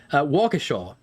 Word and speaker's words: Waukesha: I appreciate Waukesha. I see the pronunciation.